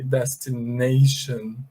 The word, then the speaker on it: destination: Pay attention to how I am pronouncing them. I say destination.